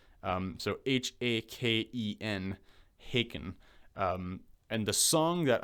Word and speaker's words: Haken: now and that ban is i believe i'm pronouncing it right but haken um so h-a-k-e-n haken and the song that i would recommend